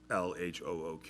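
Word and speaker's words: L.H.O.O.Q.: So with these initials, if you phonetically pronounce those initials in French, LHOOQ, you say those initials and those letters in French, it sounds like you're saying, translated into English, she has a hot ass.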